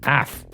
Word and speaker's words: AAF: Guess that's how you pronounce it. AF. Like you're barking or something.